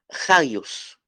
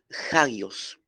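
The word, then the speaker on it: ἅγιος: este versículo quince es la palabra jayos jayos se escribe así J a g y latina o s repito J a g y latina o shilos y el acento la acentuación es en la en la vocal a jayos gallos la palabra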